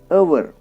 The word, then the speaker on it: hour: But the same letter in the next word HOUR does not represent the sound H. We pronounce the word HOUR as our and not as our.